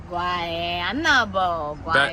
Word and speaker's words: Guaynabo: Guaynabo.